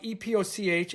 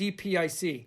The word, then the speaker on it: epoch: An epoch, E-P-O-C-H, epic is E-P-I-C. If you go and you check it out, people don't say epoch. It's epic. It's a good check with Wikipedia and the little pronunciation things.